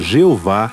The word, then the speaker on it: Jeová: o uso frequente do nome divino o tetragrama pronunciado Jeová em português nas escrituras hebraicas este nome